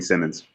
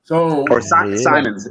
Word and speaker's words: Simons: You start Anthony Simmons. Simons.